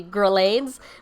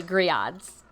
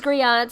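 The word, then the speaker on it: grillades: first look at it it's supposed to be grelades but it's actually griods the french the french way these griods have absolutely nothing to do with the grill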